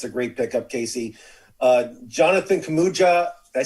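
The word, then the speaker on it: Kuminga: Jonathan Kamuja, did I say his name right?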